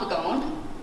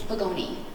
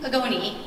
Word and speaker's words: Pagone: We like to pronounce our E's. It's not Pagone, it's Pagoni. This is how we hire people. So Rebelly, Pagoni, and our new counselor